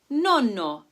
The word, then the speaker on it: nonno: Also, notice how the vowel before a double consonant is pronounced shorter, as in nonno for grandfather, compared to non, meaning not, where the sound is much longer.